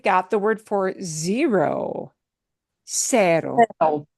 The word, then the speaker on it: Cero: Only if C is followed by the letter E or the letter I, only then it gets the sound of the S, the S sound in English.